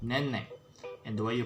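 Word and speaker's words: nenek: e k and again you don't need to spell the k all right so just say name it would be fine okay it would mean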